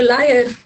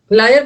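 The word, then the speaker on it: liar: दो चार और करेंगे लायर का स्पेलिंग गलत है ये ये आपने लेयर बोला ये लेयर और ये लायर होता है।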